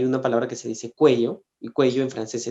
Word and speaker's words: cuello: tenía algo en el cuello y lo malo es que la palabra cuello si tú la pronuncia es mal suena culo entonces yo le dije